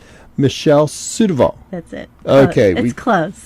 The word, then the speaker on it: Surdoval: today we're talking two and I'm going to mispronounce the name again I'm gonna get this right Michelle suitoval that's it okay he's close close so certain